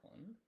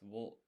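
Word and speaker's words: を: Yeah, and then to is that one. And then o, pronounced vo, is or sorry, it's pronounced o and written as vo.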